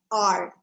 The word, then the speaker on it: hour: r is pronounced as r where h is silent you don't really hear